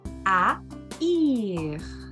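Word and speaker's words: haïr: A trema vai me dizer, ok, eu vou separar, eu vou fazer o divórcio desse casamento. Cada vogal vai para um lado, então eu vou pronunciá-las separadas. Por isso que é o verbo a ir.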